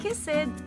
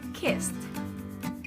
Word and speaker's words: kissed: the last time left next word kissed do not say kiss it but say kissed for the last time kissed all right next word say